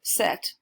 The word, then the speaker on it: cet: starts with a vowel you also use a word set but it's spelled CET these and those are